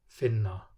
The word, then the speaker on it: finna: After all other vowels, the pronunciation is just a long N. Finna, brunnur, N.